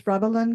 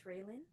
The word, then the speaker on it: Railen: the next speaker is ralin please correct um your name I may have mispronounced it it's railen okay thank you welcome